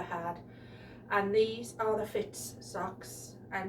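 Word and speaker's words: Fits: think i've ever had and these are the fitz socks and it's pronounced f-i-t-s and i get them from my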